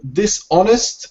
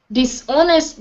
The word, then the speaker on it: dishonest: before you continue um dishonest and dishonor the H the H is silent it's like saying honest yeah and honor okay dishonest dishonor yep okay this